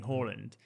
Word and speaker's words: Haaland: like that yeah because he came out in an interview and said that there's two ways of saying if you're norwegian it's uh erlang horland but if you're british